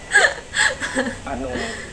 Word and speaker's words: อนล: Anon. Sé que uno se escribe con N y el otro con L, pero la L también la pronuncian como N.